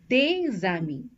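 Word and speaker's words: les amis: these are two words this word ends with a consonant so we don't pronounce the S but it's followed by a word that starts with a vowel a so what we do is we do a link this is called as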